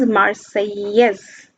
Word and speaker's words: Marseillaise: Then this is an important point mentioning that when National Assembly came into being, then Marseillaise, this is the national anthem of France, and the French pronunciation is Marseillaise.